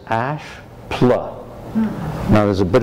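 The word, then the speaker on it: Asche: Next door to it was a building with the name the Ash Building. It wasn't spelled the same. It was spelled A-S-C-H-E.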